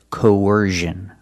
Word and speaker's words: coercion: the other one used I've only heard this pronunciation used with the z sound so it's coercion the first vowel is a long o like no and go co and you have